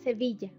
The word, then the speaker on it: Sevilla: It's pronounced Y plus vowel, like in llave, key, or my hometown, Sevilla. M, exactly the same as in English, like mama, that is mommy.